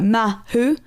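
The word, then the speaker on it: māhū: So I believe if you put emphasis on both syllables, like mahu, it should mean in the middle or homosexual.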